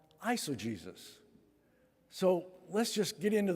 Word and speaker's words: eisegesis: That kind of interpretation is called eisegesis. So let's just get into the weeds just a little bit this morning, okay? Eisegesis, it sounds like Jesus is in that name, but it's spelled differently, okay?